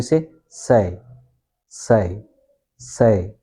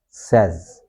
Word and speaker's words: says: So you say says says says says okay practice it as it is in pen.